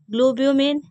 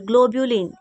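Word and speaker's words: globulin: पहला प्रोटीन मैंने बताया था एल्बुमिन ठीक है दूसरा ग्लोब्यूमिन सॉरी ग्लोबुलिन ग्लो ब्यू ठीक है तो क्या था ग्लोबलन ग्लोब ग्लोबलन है एल आई एन ई ठीक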